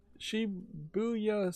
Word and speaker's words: Shibuya: Moving on, Shibuya Scramble. Man, boy, did I mispronounce that the first time.